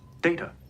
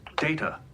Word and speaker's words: Data: data look at this data what my name it is pronounced data oh you called me data what's the difference one is my name the other is not yeah I love that